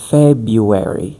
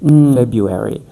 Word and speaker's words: February: For example, in the word the second month of the year, we don't pronounce the first R in American English. We say February. February.